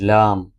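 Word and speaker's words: ل: let me show you origin of lamb start using corner of tongue to fast M touching the gums of front teeth start using corner of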